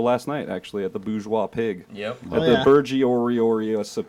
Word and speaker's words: bourgeois: I say bourgeois because there's an R in there.